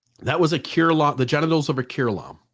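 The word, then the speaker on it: curelom: I say curlom. I give it 3 syllables. That was a curlom, the genitals of a curlom.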